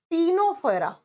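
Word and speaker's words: Ctenophora: करना है ठीक है तीन नंबर पर आएगा टीनो फरा लिखा जाएगा सी से प्रोनाउंस किया जाएगा टी से टीनो फोरा सेम नाम हिंदी में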